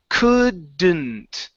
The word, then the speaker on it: couldn't: hard with it it's couldn't couldn't couldn't uhhuh yeah so now try and try and mix the sound together the D and the N okay so it's could